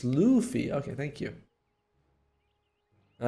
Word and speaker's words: Luffy: so I never know I was thought it was pronounced like Luffy but okay it's Luffy okay thank you all